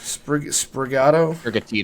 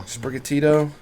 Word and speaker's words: Sprigatito: All right, Justin, you have Sprigatito? Sprigato? Sprigatito.